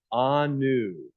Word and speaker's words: Anu: this that she is a new member but her name is not pronounced a new it is pronounced Anu say it with me